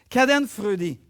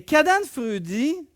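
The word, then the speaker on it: Schadenfreude: c'est comme vers ça je sais comment ça se prononce caden frudy et caden frudy c'est un mot qui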